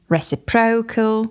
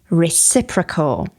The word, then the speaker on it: reciprocal: Please note the correct pronunciation. It's not reciprocal, for example. It is reciprocal.